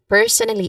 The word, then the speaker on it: personally: So you make sure here when it comes to pronunciation you make sure to pronounce per that's the um first syllable of the per of the first word because that's the emphasis here per personally again personally.